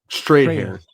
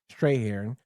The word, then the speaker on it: Strathairn: I always get his name wrong. Strahan. Strahan.